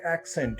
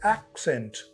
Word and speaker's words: accent: as a noun now if it is a noun you say accent accent the stress come on the first syllable it becomes accent but when it is